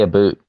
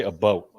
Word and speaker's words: about: close but not quite you guys don't say a boot obviously about this is an east coast thing i don't say a boot i say a boat so i almost say it like boat you live in michigan